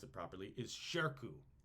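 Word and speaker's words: Shirkuh: is amazing and his name I want to pronounce it properly is Sharko Sharko which is s uh s-h-i-r-k-u-h is how we spell it shirku is a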